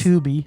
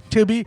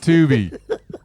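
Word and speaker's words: Tubi: or I'm assuming it's Tuby. Tuby. Stop. Stop pronouncing pronouncing stuff when people were trying to direct people to it. Tubby. Well, Tubby would be the two B's.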